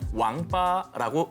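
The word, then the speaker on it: 王八: 중국에서는 거북이와 자라를 통칭해서 왕빠라고 읽습니다. 이것은 인간으로서 갖춰야 할 8가지 도리를 잇다라는 뜻의 낭팔과 발음이 거의 흡사합니다.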